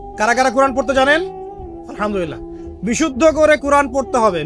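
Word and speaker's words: الحمد لله: এখানে হা কি? হা বড় হা না ছোট হা? হায়ে কে বললো ছোট হা? হায়ে হাওয়াস না হায়ে হুত্তি, কোনটা? হ্যাঁ বলো। হ্যাঁ, মাশাআল্লাহ। উচ্চারণ মাখরাজ কোথায় বলো? এই যে মাশাআল্লাহ, একদম গলার কোথায়? মাঝখানে।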